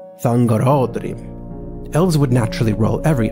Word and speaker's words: Thangorodrim: Whereas Thangorodrim, the towers of slag raised by Morgoth above his underground fortress, is pronounced Thangorodrim, with the accent on ra, Thangorodrim.